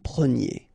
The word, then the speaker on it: preniez: And the ending for vous is yé. So we get nous prenions, vous preniez.